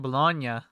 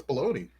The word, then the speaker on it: bologna: for my whole life I always said bologna no it's baloney that's how you that's